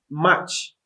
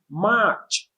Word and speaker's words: March: we are doing march please don't say much or mush it's pronounced march march and is spelled